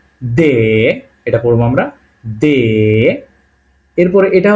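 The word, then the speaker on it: д: যেটা আমরা বাংলা যেটা পড়ছি তারানে এটা কি দে এটা পড়ব আমরা এরপরে এটা হল ই এর মত দেখতে এটাকে একচুি বলা হয় ইয়ে এর মত যেটা দেখতে সেটাকে আমরা বলতেছি এবং এ দেখেন এর উপরে আবার দুইটা ফোটা দে এরকমই এর উপরে কি দেওয়া আছে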